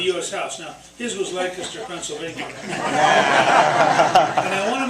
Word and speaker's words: Lancaster: Now, his was Lancaster, Pennsylvania. And I want to make sure, in Pennsylvania it's pronounced Lancaster. Lancaster here. It's Lancaster here. So it's a little bit like Concord and Concord.